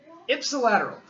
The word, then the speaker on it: ipsilateral: How do we pronounce that? Huh? Ipsilateral. Ipsilateral.